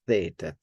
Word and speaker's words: theta: So, t with the t, but the way we do it in Raspbian pronunciation is to make it more like where you get the tongue involved, and it's theta, right? But certainly there is an aspiration there. And then p with a